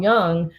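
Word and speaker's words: Jung: the uh famous psychologist Carl Young uh whose last name is spelled J u n g not y o u ng but he started this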